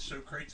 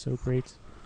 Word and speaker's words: Socrates: Is So Crates in that game? Huh? So Crates? From Bill and Ted. I don't He's remember. making fun of it because his name isn't pronounced so great. Socrates. Oh. Socrates.